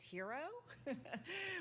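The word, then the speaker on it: Herro: should we say Chase hero which is kind of in the story is pronounced uh her it is pronounced hero even though he spells it with two RS and he's the man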